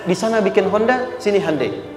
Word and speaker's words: Hyundai: sana bikin Honda sini Handai hyundaikan dibacanya Handai sana Honda apapun yang